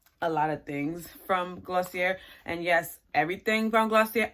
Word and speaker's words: Glossier: you order from glossier give us your glossier glossier that's how you pronounce it you get your pink bag with